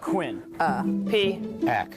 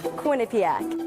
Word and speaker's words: Quinnipiac: See, Evan's saying it right. I I don't I don't I say I too I put too much on the pak.